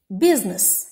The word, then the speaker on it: business: b is silent next business business the letter i is silent half half the letter